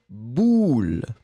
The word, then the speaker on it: boule: Le premier, U, bulle. Et le deuxième, ou, boule. Premier, bulle. Deuxième, boule.